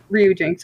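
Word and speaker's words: Ryujinx: jinx it said that Ryu is that how you say it yeah Ru you would know Street Fighter it's Ryu okay thank you yeah R yeah I know but you yeah Ryu Ryu Jinx okay it said that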